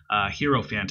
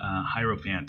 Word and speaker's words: Hierophant: Hierophant, however you want to say it. I believe it's Hiero, like hieroglyphics, because that's how it's spelled.